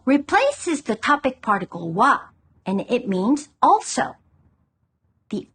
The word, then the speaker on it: は: The particle pronounced は is the topic of the sentence. 私は大学生です。